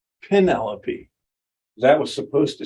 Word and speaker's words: Penelope: to get on to some Penelope not Penelope Penelope that was supposed to